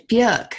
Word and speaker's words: Björk: She says it's Björk, and she says Björk rhymes with jerk, which I always liked.